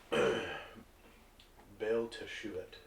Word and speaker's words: Baal Teshuvat: How do I spell that? Markellos. Markellos. Okay, and then Harris. What's your character's name? Baal Teshuvat.